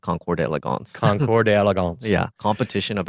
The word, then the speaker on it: Concours d'Elegance: Is it a Concours or Concourse? I believe it is pronounced Concours d'Elegance.